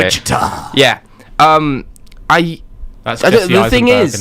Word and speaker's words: Wichita: Wichita.